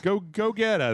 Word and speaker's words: Gogeta: Go-Getta. That's what it obviously says, Go-Getta. You got to go get. That's how you say it in Spanish, actually.